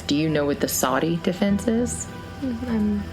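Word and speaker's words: SODDI: Saudi defense is I'm I'm going to spell it because it's it's not how you think it's and it on G line is always funny whenever they say it they put it up on the TV and they spell it out it's s o d d i some other dude did it it sounds familiar yeah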